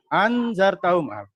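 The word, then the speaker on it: أأنذرتهم: Anzartahum. Ya, ingat-ingat ini bacanya.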